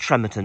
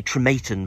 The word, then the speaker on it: Trematon: we haven't done and I think it's pronounced tremon isn't it I always want to say trematon but you always say no Bryce it's it's tremon I think it's Tron